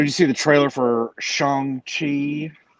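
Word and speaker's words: Shang-Chi: see the trailer for shanghai that's how you pronounce it i learned that today i have been i've been saying chiang chi until someone of asian descent corrects me i'm going to say shang chi well i will continue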